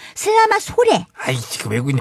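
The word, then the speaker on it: selamat sore: 원 발음은 슬라마소르가 아니고 슬라마소레.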